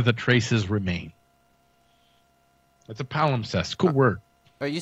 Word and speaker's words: palimpsest: let me see if I'm saying right papa pollen pest pal impressed how do you pronounce that freaking word man what is this jamot appellant a power obsessed apollo obsessed yes I had it right the first time manuscript our piece